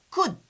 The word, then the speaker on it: could: we don't pronounce L L here is silent we say could directly could or we can say